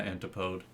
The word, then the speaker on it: antipode: show how strong your magic is there's my antipode and yes that is how it's supposed to be pronounced I looked it up in the dictionary